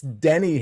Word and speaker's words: Denny: uh shaking their head it's Denny Hamlin d n y you even told me that before the show and I still said it wrong so feeling good today